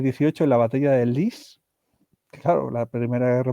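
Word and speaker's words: Lys: la batalla de la Lis en el 18 en Francia. La li sería eh sería la pronunciación correcta, ¿no?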